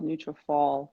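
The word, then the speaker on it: Nutrafol: neutrophil is also wonderful so neutrophil n-u-t-r-a uh f-o-l neutral fall yeah also another product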